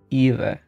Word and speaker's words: Ewe: Like B, but with the lips not quite closed. It's Eva, something like that.